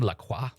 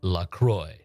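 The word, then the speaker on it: LaCroix: fortunes are you Madame laqua yes but it's pronounced lroy like enjoy your reading please sit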